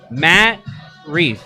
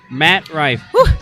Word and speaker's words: Matt Rife: so many good promoting and talking about promoting Matt Reef right is that you say his name Rife Matt Rife like everyone and everyone I still don't know